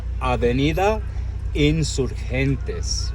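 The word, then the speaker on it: Avenida Insurgentes: I said it wrong twice at the start, guys. Take note. This road is aida insurentes, the avenue of the insurgency.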